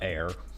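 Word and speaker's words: Bair: We spell it bear, B-A-I-R. But air.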